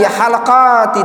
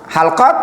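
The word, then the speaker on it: حلقات: Minabil faedah ikhwan, ini yang lebih tepat bacanya bukan halaqat, tapi yang lebih tepat halqat. Maknanya lingkaran ya. Kalau dibaca halaqoh itu tukang cukur halikun. Hallaq atau halaqah jamaknya. Nah, itu sering orang salah.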